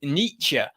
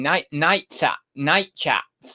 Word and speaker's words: Nietzsche: That's harder than Nietzsche. I was saying night chats or something for ages.